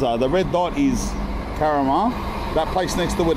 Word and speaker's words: Karama: It's not Karama, it's Karama.